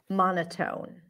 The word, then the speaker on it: monotone: syllable is man Mana what would it be the O's and go or the A's and father monoton monotone which one or monoton Monon schah Monon aen father or monotone o and go yes o and go monotone monotone monotone let's do